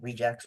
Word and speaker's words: regex: outlined the main principle behind rejects or reax, but I'll use what I like to call the correct pronunciation uh of rejects, but you're welcome to disagree.